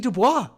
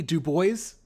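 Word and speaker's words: Du Bois: a WB DUIs sorry I I always pronounce it the French way first and then I realized I was fucking wrong um look I don't know how else to say this but we do boys yes it sounds like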